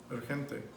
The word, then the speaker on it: urgente: So when that G is before an E or an I, it's going to be H. And in the case of urgente, it's urgente.